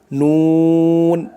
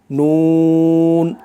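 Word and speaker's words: نون: সঙ্গে লাগাইয়া উচ্চারণ হয় নুন নুন মানে জিহ্বার আগা তার বরাবর উপরের তালুর সঙ্গে লাগাইয়া উপরের তালুর সাথে লাগবে উচ্চারণ হবে নুন এটাও স্বাভাবিকভাবে উচ্চারণ করতে হবে লামের মত করেই নুন নুন তারপরে চলুন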